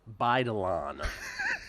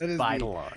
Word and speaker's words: Baidalan: It's Baidalan, for those who were wondering. That's how it's pronounced. Baidalan.